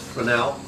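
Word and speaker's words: Fresnel: They're called spelled Fresno. It's pronounced frenel.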